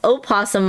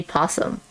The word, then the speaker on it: opossum: Now, do you say opossum or do you say possum? In Oklahoma, we mostly just say possum, but I think either pronunciation is acceptable.